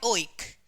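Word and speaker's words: oic: इसका उच्चारण होता है ओइक।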